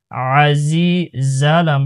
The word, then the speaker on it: العزيز: মিনুল, আজি, আইন জবর আ, জায়া জের জি, আজি, জালাম পেশ জুল, আজিজুল, মুহাইমিনুল, আজিজুল, আজিজুল, জিম বা